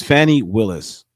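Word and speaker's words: Fani Willis: say that name right yeah oh gosh it's Fanny Willis geez I've been sanding ladies the woman's name wrong the whole time all right here we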